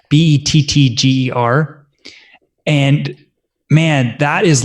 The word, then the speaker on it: Bettger: I think it's actually pronounced Betcher, Bettger.